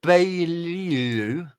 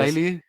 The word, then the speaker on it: Beaulieu: Corey Beaulieu. I never know how to pronounce his surname. I think it's Corey Beaulieu. I think it is. Beaulieu.